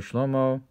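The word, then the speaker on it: שלמה: Therefore Shlomo is spelled with a hey, but it's pronounced with a cholem, which is this union of the masculine and feminine. And also Shlomo, who brought in the Aaron into the Kodesh.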